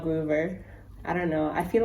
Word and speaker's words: Grover: so i've realized that i've been saying gruber's name wrong so i don't think it's grover it's groover which is sad because he's